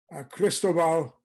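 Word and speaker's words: Cristóbal: Cristobal, accent on the O, Toriente.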